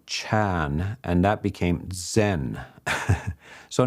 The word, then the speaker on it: Chan: When I went to China, the Chinese language is different and they they use this word, they would pronounce this word Janna as Chan.